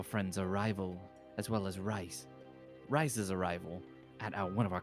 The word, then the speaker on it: R.I.S.E.: arrival, as well as R.I.S.E.'s arrival at one of our compounds. Pretty sure they're pronounced rise, not rice.